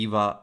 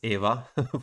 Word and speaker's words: Eva: I'll pronounce it in Italian because in English it would be Eva, but we're Italian, so it's Eva for us.